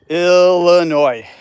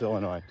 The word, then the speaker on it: Illinois: I'm in uh Illinois Illinois and there's no S A lot of people pronounce It in America Illinois it's Illinois so um best place